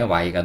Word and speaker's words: why: W는 여기서 우 소리를 냅니다. 그리고 사실 이 H는 묵음이라고 보셔도 돼요. 그 다음에 Y가 녹색인 걸로 봐서는 이거는 이. 그래서 이거는 우아이 이렇게 되는 거죠.